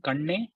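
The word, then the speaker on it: கண்ணே: Say the word kannana kanne Kannana Kanne. and say paneer. Paneer. So kanne is the fourth na where you stress, where your tongue has to roll inside.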